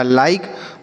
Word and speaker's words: like: ठीक है, चलिए आगे लिखा है LIKE, तो L से पढ़ते हैं लॉ, और आई का उच्चारण आई होगा बच्चों। अगर आई के बाद लास्ट में ई लिखा रहे तो हम आई का उच्चारण आई करते हैं। की से पढ़ेंगे क। यह लिखा लाइक, मतलब क्या होता है?